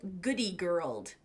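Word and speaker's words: Goodie Girl: or ShopRite or something like that, it's called Goody Girled. Nope, didn't say that right. It's called Goody Girl, and Goody is spelled I-E, Goody Girl.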